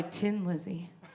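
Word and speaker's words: Thin Lizzy: And the song that I got was The Boys Are Back in Town by Tin Lizzy. You didn't even know it was Tin. It's spelled thin, and it's tin.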